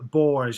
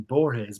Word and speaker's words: Borges: jorge's and borge for years i said uh boars and then booktube come along and everyone's saying borges but i hadn't spoken to anyone pronouncing his